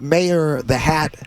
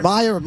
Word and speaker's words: Meyer: I'm doing a little book signing this afternoon at the Mayor Mad Hatter. Oh, really? So Meyer the Hatter. Meyer.